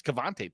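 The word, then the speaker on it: Kavontae: like yeah I didn't I said it wrong I say keante it's kavante Turpin and yeah you but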